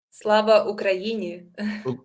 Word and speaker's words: Slava Ukraini: and I'm learning how to pronounce it correctly, so forgive me if I don't, but Slava Ukraini. Slava Ukraini.